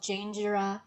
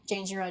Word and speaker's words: Janejira: your instagram so my art instagram is called jingera draws and for those of you who are just listening my name is spelled j a n e j i r